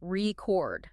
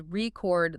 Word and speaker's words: record: Think of the classic example, record, the noun, versus record, the verb.